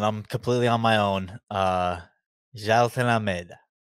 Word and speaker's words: Jailton: up on this name, Jailton Almeida, and the nickname is Malhadinho, That's a challenging name, It's a challenging name. Yeah, but it's Jailton. We're going 3 syllables on the first name.